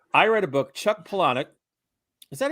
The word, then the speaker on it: Palahniuk: Chuck Palahniuk.